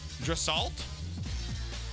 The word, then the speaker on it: Draisaitl: Right behind him, Leon Draisaitl. Draisaitl. It's Draisaital. Spell it again.